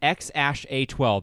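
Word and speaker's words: X Æ A-12: to X early no it stands for ash so he said on Joe he on Joe Rogan's podcast recently he said X ash a 12 is how you pronounce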